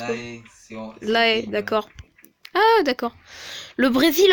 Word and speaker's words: La Haye: Robin, H-A-Y-E, avec un H majuscule, ça se prononce comme... La Haye, d'accord.